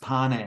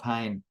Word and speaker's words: Pane: by the way my surname is is pronounced pan not pain pan so it's no